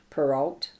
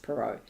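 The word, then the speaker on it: Perrault: writing Hood by Charles perau peral I think it's pronounced pero is a tale relating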